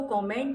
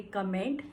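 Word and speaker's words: comment: Okay, so you will not से कमेंट, you will say कॉमेंट. The correct pronunciation will be कॉमेंट.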